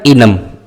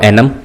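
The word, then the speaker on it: enum: complete हो चुका है नेक्स्ट वी हैव इनम और एनम यू can pronounce as per your choice basically PHP 81 88.1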